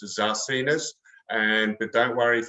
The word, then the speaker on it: Zarcinas: dr uh is because no one can pronounce my surname it's a zarcenas and but don't worry if you can't pronounce